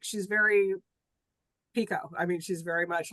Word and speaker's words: Picoult: And we know how to say her name now. Pico, Confidently.